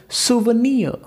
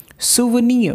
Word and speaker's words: souvenir: S-O-U-V-E-N-I-R. So O is silent in that word, and if that O will be silent, so you need to say this word as souvenir. Souvenir, because O is silent, you need to say